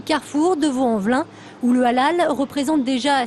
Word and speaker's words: halal: qui est vraiment halal la viande halal prononcé Halel en arabe justement qu'est-ce que c'est